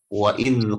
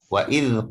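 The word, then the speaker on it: وَإِذْ: Wa idz qulna, huruf dal berbaris sukun, jangan dibaca mantul. Jangan dibaca wa idz, jangan. Karena zal tidak punya sifat qalqalah.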